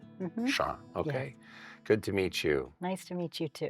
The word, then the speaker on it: Sharmil: Charl.